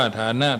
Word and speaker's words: ฐานะ: ความ สำคัญ ของ ฐานะ ทาง ไหน อ่าน ว่า ฐานะ ทาง ใจ นี้ โดย ความ หมาย